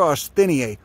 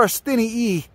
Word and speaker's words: austiniae: Cephalanthera austiniae, or austiniae, you know, like lignum vitae is pronounced lignum vitae.